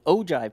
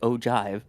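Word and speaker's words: ogive: that surround the capsule, which are the ojive panels, ogiv, despite being pronounced ojive.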